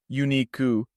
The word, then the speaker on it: ユニーク: ユニーク、 Uniku sounds remarkably close to unique in English, but the last vowel u sound is emphasized as ku.